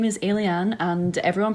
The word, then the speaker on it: Ayliean: yes my name is alen and everyone pronounces it differently um it's alen like an alien I am um I'm